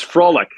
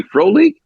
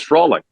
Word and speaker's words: Frolik: It's Frolic. Really? Bobby Holik. Wouldn't it be Frolik? No, it's Frolic.